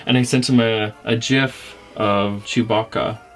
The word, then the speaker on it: GIF: And I sent him a GIF of Chewbacca.